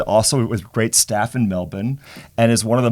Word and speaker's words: Melbourne: in that sentence wasel you pronounced it correctly you didn't you didn't drag that out why thank you well done not Melbourne not Melbourne no melb well done well done